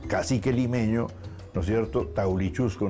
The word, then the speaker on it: Taulichusco: Por eso también, digamos, el cacique limeño, ¿no es cierto?, Taulichusco no era Taurichusco, sino Taulichusco, y toda la toponimia,